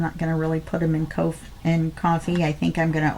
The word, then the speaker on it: Ko-fi: So if you're not a Ko-Fi member, coffee, I guess they pronounce it coffee, I'm sorry, out of the K, I want to call it Ko-Fi.